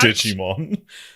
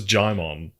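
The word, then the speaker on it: Djimon: honu Regina Nicki Minaj Digimon is that not how you say it no it's gimon I apologize uh we're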